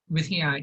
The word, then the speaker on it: วิทยา: that's a vittaya Mahavitya. in that. Yeah. So that's vittaya in that word mean knowledge. Yeah. So you pronounce it as Vittaya, right?